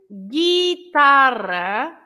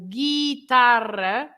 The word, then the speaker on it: guitarra: So, as I was saying, if you look at the difference between agua and guerra or guitarra, you don't pronounce the U.